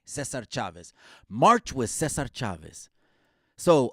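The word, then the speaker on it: César Chávez: Cesar Chavez. Let's say it right. Let's say it right. Cesar Chavez.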